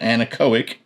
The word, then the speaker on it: Anechoic: So, this is the Anechoic, that's how you pronounce that, Anechoic premium titanium suppressors.